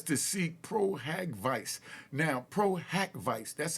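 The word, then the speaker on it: pro hac vice: that Busby has to seek proag Vice now Pro hack Vice that's how it's pronounced PRACK Vice p r o- haav Dash uh VI but we you know the court system we just call it pro Havoc now I'm G break down what Pro havoc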